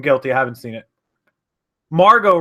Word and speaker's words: Margot: Margot Robbie, that's her name. Yeah, the T is silent.